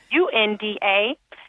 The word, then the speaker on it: Thasunda: Again, it's not spelled the way it's pronounced. That's a 70s baby. Thasunda. But also on LinkedIn, which is also Thasunda, you can find me.